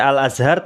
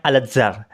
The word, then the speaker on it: Al-Azhar: si bapak ini tadi salah dalam pengucapannya bukan alazhar Tetapi dia bilangnya Alazar Alazar seperti itu baik kita akan lihat